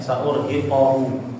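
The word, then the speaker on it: سأرهقه: Tadi bacanya keliru di situ harokatnya sa'urhiquhu ya. Seharusnya hiquhu bukan qahu ya.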